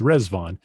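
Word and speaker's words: Riḍván: the holy days in the baha'i faith called resvon as you can see on your screen it's spelled r-i-d-v-a-n but pronounced resvon and rizvan is just the an arabic word for paradise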